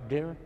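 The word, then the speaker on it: Dir: of northern Pakistan, and the area is D-I-R, Dera, is it pronounced? Yes, Dera. Dera.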